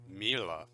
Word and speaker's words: Miele: wrong in English but English native speakers usually say something like Mila Mila um so it usually sounds more like an A in the end whereas in German we